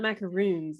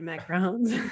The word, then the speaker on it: macaron: some of those delicious macrons am i saying it right now yeah you are you are they're not macaroons they're macrons okay um yeah so